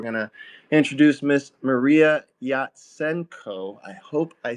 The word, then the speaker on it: Yatsenko: Hey everyone, I'm Mariia Yatsenko. Yes, you pronounced my surname correctly.